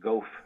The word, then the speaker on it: Goff: uh pentagon spokesperson uh susan goff is actually i think how you pronounce it like cough the gulf right something like that uh